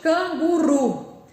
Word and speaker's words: canguru: Qual aqui é a sílaba de tom mais forte? Canguru. É o ru.